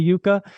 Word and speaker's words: yuca: I guess it's actually a Spanish word pronounced Yuca and even in British English they say Yuca.